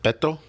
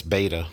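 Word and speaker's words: Beto: his fake Mexican name is it Bethel or big toe well we all know it's beta but whatever I do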